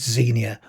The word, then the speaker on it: Xenia: By the way, I'm pronouncing it as Xenia. Others may pronounce it slightly differently.